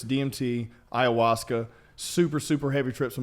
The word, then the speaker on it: ayahuasca: Ayahuasca. How do you say it? Ayahuasca.